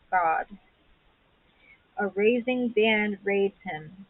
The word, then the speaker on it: Gad: go g a d is actually pronounced God a raising band raids